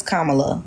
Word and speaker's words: Kamala: So Kamala Harris set forth What policy?